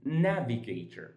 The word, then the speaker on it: navigator: Whenever you find a word ending in ater or ter, that means that ter, and then you count two syllables before that, that's exactly where you put your stress.